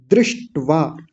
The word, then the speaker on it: दृष्ट्वा: और इसको दृष्ट्वा नहीं बोलना। कुछ लोग गलत उच्चारण क्या करते हैं? दृष्ट्वा बोलते हैं। दृष्ट्वा दृष्ट्वा नहीं दृष्ट्वा द्री है ये। दृष्ट्वा और ट आधा है। दृष्टवा ट को आधा ही बोलेंगे। दृष्ट्वा आसान है ज्यादा कठिन नहीं है।